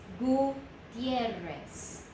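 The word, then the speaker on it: Gutiérrez: And so that word is Gutierrez.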